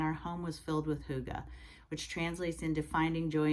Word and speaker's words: hygge: Simplicity and it's spelled h-y-g-g-e it is a Danish word and it's pronounced hygge